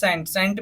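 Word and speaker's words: scent: है पहले है सेंट एस सी आई एन सेंट में हमारा साइलेंट रहेगा इसको हम क्या पढ़ेंगे सेंट का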